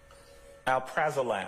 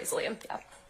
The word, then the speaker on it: alprazolam: Alprazolam. Am I pronouncing that right? Yes. Okay. Alprazolam, yeah.